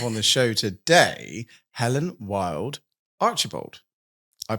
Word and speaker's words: Wylde-Archibald: And uh we're super excited to have on the show today, Helen Wild Archerald. I pronounced that right.